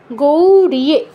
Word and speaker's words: গৌরিয়ে: গৌরিয়ে উচ্চারণটা গৌড় যে বলা যাবে না, কি হবে? গৌরিয়ে।